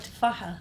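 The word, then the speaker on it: تفاحة: Tufaha.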